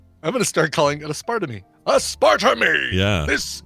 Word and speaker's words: aspartame: drink any of that you say a spur to me a spar to me and I I kind of waited to see if he said I'm just kidding I know it's pronounced aspartame a Spartan II I must